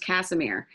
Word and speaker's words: Kassimir: I don't know why I just pronounced it wrong. It's Kassimir. Okay, I have such a hard time pronouncing it.